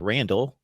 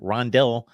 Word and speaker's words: Rondell: of rondelle boathroid's name I thought it was Randall I've checked it out we've got rondelle boathroid with an O so there it is